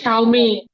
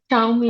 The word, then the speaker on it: Xiaomi: XIAOMI উচ্চারণ কি হবে আমি জানি না। আপু আপনি ওই আপু এটা শাওমি শাওমি শাওমি আচ্ছা শাওমি এটা ফোনের নাম দিয়ে রেখেছে ফোনের মডেল।